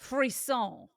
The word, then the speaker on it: frisson: Frisson. Okay, so Oh. apparently you pronounce it frisson, but what is the bastard American English version? Hold on. Phrasing. Right. Frisson. Frisson is what apparently Merriam-Webster is telling me.